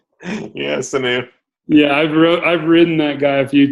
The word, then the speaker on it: Sanu: Yeah, Sanu.